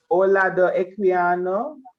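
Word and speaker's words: Olaudah Equiano: Sir, how do you pronounce that person's name? Olado Equiano.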